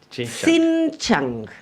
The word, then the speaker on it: Xinjiang: el desistimiento de las empresas chinas BYD y Xinjiang. Perdón. Mira qué bien lo pronunciaste. ¿Cómo es? ¿Xinjiang? Xinjiang.